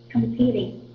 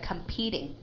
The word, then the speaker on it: competing: okay the second word competing okay very good competing competing okay that t will be a D sound okay and we call